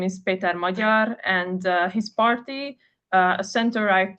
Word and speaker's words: Magyar: Yeah, I saw some statistics like Peter Magyar. Do I pronounce Yeah, correctly?